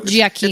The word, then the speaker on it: Giacchino: Giacchino. It's Italian. Yeah, Giacchino. It's a hard C.